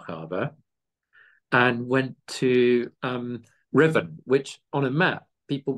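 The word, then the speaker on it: Ruthven: out of Lo Hara and went to um Riven which on a map people will find SP as R thenen but it's pronounced as Riven and it's where the barracks is on a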